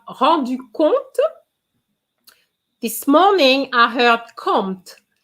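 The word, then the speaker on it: compte: this morning i heard compt be careful the p of count is silent so you have to use the t and o m o n is the same sound so guys what do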